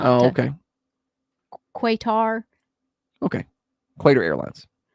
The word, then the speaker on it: Qatar: Qatar. Okay. Qatar Airlines. Qatar Airlines. Heavy on the R.